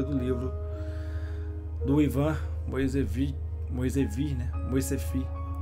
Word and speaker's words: Moiseyev: no Google né Tradutor como é que pronunciava o nome dele é Ivan Ian mo falando errado vendo mas agora estou falando certo vamos orar gente espero